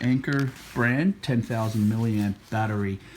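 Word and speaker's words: Anker: as well as this i believe you pronounce it anchor brand 10 000 milliamp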